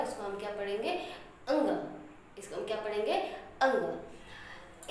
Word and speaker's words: ङ: क, ख, ग, घ, अंग।